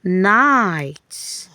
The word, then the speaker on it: night: But the other GH, the silent GH, is helping letter I here. So the GH is silent while we are going to hear the sound of only letter I.